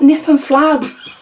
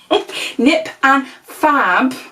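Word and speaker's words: Nip + Fab: I keep saying that, it's not Nip and Flab. Nip and Fab glycolic scrub, then we've got the Gatineau, the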